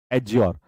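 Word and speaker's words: adjure: यहां पर D silent होगा। डी क्या रहेगा? साइलेंट। साइलेंट। ठीक है? टी यहां पर साइलेंट होता है। टी यहां पर होता है साइलेंट एज्योर।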